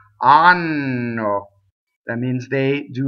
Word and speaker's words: hanno: Anno. Okay, so anno means anus. So please, if you do nothing else right in this aria, please double the N. Anno.